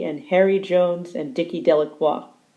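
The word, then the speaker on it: Delacroix: Harry Jones and Dicky delaqua the people in the town pronounce his name delacroy make a very large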